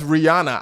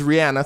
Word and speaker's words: Rihanna: I always say her name as Rihanna. I don't know. Her actual name is Rihanna. Side note, for those of you that don't know, that's how she pronounces her name.